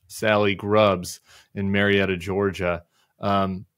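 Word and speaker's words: Salleigh: name is it Sally it's spelled yeah spelled Sally but l e i g h Sally grubs in Marietta Georgia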